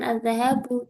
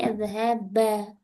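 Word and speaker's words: الذَّهَبَ: Maka dibacanya bukan az-zahabu tapi az-zahaba.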